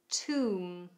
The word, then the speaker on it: tomb: This is English Like a Native, and today I'm helping you with your pronunciation. Containing a silent B, we have comb, comb, climb, climb, debt, debt, plumber, plumber, tomb, tomb, subtle, subtle, dumb, dumb, bomb, bomb, doubt, doubt, numb, numb, thumb, thumb, womb, womb.